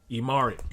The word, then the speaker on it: Imari: childhood friend of his, Imari. You know what Imari rhymes with? Sorry, because that's what you will be feeling for her throughout the entire series.